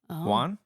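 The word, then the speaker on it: Huan: skipped the pronunciation key can't what is it spell it h u a an Juan Juan thank you yeah yeah yeah let's go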